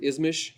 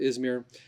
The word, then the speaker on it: Izmir: Locally, they pronounce it Izmish for some reason, not sure why, but we would pronounce it Izmir.